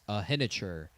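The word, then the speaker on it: Iheanachor: Uh and then JP Jerome Bettis said his name wrong. It's Max Ahener, offensive tackle out of Arizona State.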